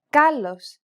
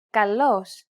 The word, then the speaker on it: καλός: This accent just indicates that you need to stress the syllable. That's it. Κάλος, καλός.